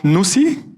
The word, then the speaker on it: Nusii: person who has a very nice project called Nusii.